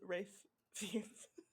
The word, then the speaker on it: Ralph Fiennes: Well, now everybody knows how to say Rafe Fiennes.